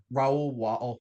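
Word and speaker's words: Raoul: Is it Raul Walsh? R A O U L. Yeah, Raul Walsh and Urban Cummings was released.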